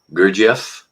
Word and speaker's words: Gurdjieff: The one book I couldn't pronounce. Gurdjieff? Pardon me? Gurdjieff?